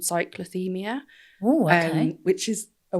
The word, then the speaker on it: cyclothymia: So some people, different types, the most common ones, bipolar type 1, type 2, and then there's something called cyclothymia.